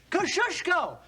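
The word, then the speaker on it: Kościuszko: of General Gates chief engineer say it and spell it kushko k o s c i u s z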